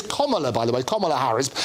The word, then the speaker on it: Kamala: Everybody Kamala. No, it's Kamala, and she spent an absolute fortune in 2016, including getting lots of high school kids out to tell everybody how to pronounce her name. It's obviously completely wasted money, but it's Kamala, as in the punctuation, as in stop Joe Biden.